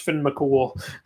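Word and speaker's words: Fionn mac Cumhaill: like spelled theon mchugh but it's pr it's pronounced finn mccool kratos vs thor we're gonna see that soon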